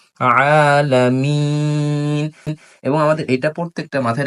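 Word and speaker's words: العالمين: যেমন আলহামদুলিল্লাহি রাব্বিল আলামিন আলামিন গলার মধ্য থেকে সুন্দর আইন উচ্চারণ করতে হবে আলামিন এবং আমাদের এটা প্রত্যেকটা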